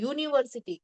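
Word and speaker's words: university: दो दे spelling it starts with the vowels, ये सारे वर्ड यूनिवर्सिटी, तो यहाँ पे यू का जो साउंड है वो कम है और एन का साउंड ज्यादा है, एंड एन इज अ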